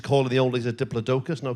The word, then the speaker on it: Diplodocus: I think when I was watching Jurassic Park, they said Diplodocus. I went, what? Oh, you mean a Diplodocus?